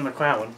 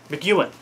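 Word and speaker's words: McEwan: these two together uh Ian mowen or how do you say his name Ean Ian McAn that's how you say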